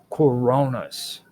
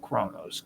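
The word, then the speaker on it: Coronis: Kronos there's cron cor Coronas Coronas not coronos Coronas and you spell that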